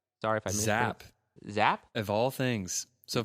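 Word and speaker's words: Giap: if I miss zap zap of all things so folks it's spelled g a p zap because I've been watching the Vietnam War it's zap um yeah I'm gonna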